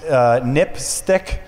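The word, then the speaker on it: NPSTC: Safety telecommunications commission um which is pronounced nipstick which is kind of a odd acronym name sounds dirty yeah it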